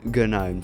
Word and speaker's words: GNOME: Yes, it's Gnome. It's not Gnome. Stop pronouncing it like that.